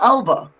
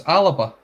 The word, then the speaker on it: Alba: Colin, what's this Alaba pattern? Is it not Alba? That's Alaba. Yeah, mate, it's the Gaelic pronunciation. It's Gaelic, yeah.